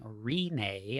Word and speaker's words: Rinne: from what I understand it's r i n NE e it's like it's like Renee but with a long e at the beginning so conqueror is the